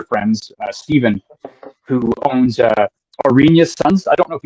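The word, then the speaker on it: Oranje: the get together it it's spelled like or o r a n j e Suns looks like it says orangey but it's ARA um actually he's winning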